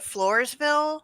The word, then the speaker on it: Floresville: know, and is it in, like, do you pronounce it Floresville?